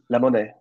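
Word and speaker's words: La Monnaie: do two years in Brussels with is it pronounced lemon um the Opera leemon yeah two years as music director there um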